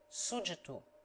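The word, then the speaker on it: sujeito: pronounced as in english be is silent in sujito subject pronounced as if written sujitu and in sujeta an old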